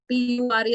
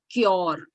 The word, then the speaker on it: pure: we are South Indians, so I used to pronounce C-U-R-E as cure, P-U-R-E as pure. All right, because my dad used to pronounce that way. So I thought he's always right. But then there was this English teacher who said, it is pure.